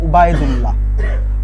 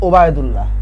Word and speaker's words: উবায়দুল্লাহ: তো ওবায়দুল্লাহ উচ্চারণ করতে গেলে অনেকে বলে, অনেকে ভুল উচ্চারণ বা ভুল বানান লিখে ফেলে। তো আবু জাফর এবং উবায়দুল্লাহ বানানটা আবার দেখো, উবায়দুল্লাহ, নট ওবায়দুল্লাহ।